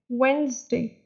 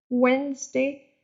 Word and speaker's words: Wednesday: Wednesday, Wednesday, so here D is silent.